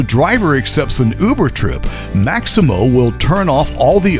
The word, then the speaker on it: Maxymo: The Maximo app, which is spelled Maxymo, it helps Uber, Lyft, and Grubhub